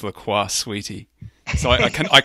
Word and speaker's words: LaCroix: think called Lacroix and somebody on the show mispronounced it as Lacroix and then was corrected oh it's Lacroix sweetie and then that was